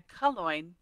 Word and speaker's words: Calongne: known as Calongne. Yep, it rhymes with coin.